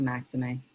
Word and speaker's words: Maximé: and meditation so and your last name is pronounced that maxime or yup maxime okay yup you did it right maxime yep anybody out by um the grand army